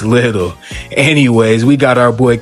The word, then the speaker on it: Liddell: I know it looks like it's spelled Lidel, but it's Little.